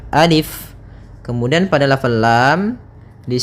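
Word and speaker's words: ألف: Nah, maka ketika kita membacanya, untuk alif ini la yumaddu, tidak dimatkan, tidak dipanjangkan, sehingga jangan dibaca alif, tapi hanya pendek saja alif.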